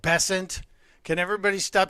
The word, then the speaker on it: Bessent: And Just before we went on the air, Scott Bessent, the Treasury Secretary, whose name is pronounced Bessent. Can everybody stop saying Bessent? It's Bessent.